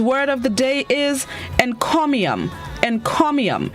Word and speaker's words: encomium: day this morning's word of the day is encomium and comium it's spelt e-n-c-o-m-i-u-m and chromium it is unknown which